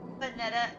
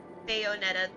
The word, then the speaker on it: Bayonetta: Vanetta or Bayonetta. I'm sorry. I can't say that word, but I know exactly what game you're talking about. And it's such Bayonetta. Thank you, Phil and Bricks. That's how you say it.